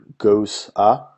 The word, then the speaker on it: Gose: have a goza and that's pronounced Goa Goos Apostrophe a Goa this beer is a